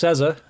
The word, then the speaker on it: SZA: i was asked to do a couple more cesar reacts i uh i just found out that it's pronounced sesa because i'm a square anyway uh yeah let's